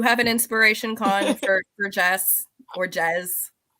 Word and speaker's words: Jess: Did you have an inspiration, Con, for Jess or Jez? It's Jess. The audiobook narrator did pronounce it more like Jazz. Yeah, with the Z, yeah.